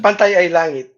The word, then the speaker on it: Kapantay ay langit: What was the Tagalog pronunciation? Kapantay ay langit.